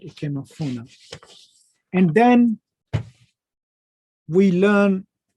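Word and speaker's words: Ikemefuna: And that is how he ends up being the foster parent to Equanafine, right? Ikemafuna, right? Ikemafuna.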